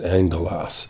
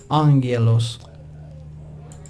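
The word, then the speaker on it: ἄγγελος: and we see that the Greek word is angelos. And it allows you to actually play the sound to hear how that Greek word is pronounced. And if I click on this little speaker, it'll do that. Angelos.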